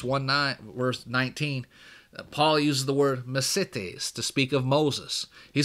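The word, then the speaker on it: μεσίτης: It's spelled, and my Greek's not great, but it's spelled M-E-S-I-T-E-S, mesites.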